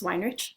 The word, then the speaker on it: Weinrich: Miss or Miss Weinrich, whichever one you're more comfortable with. This is what I always tell my 8th grade students. It's pronounced wine like a whining baby and rich like money.